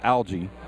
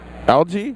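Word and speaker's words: Algee: the first try so my last name is algae algae yeah which is spelled al GE e and you would be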